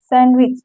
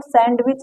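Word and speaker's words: sandwich: पर देखिए एग्जांपल से सैंडविच इसको सैंडविच नहीं कहते सैंडविच कहते हैं इसको हैंडसम नहीं कहते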